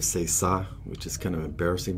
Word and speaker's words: ça: And there's another time he said c'est ca instead of c'est ça, which is kind of embarrassing.